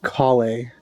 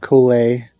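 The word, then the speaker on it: Collei: often really looks like coley to me but it's calle cauli like call like you got a collar eh ah okay i'm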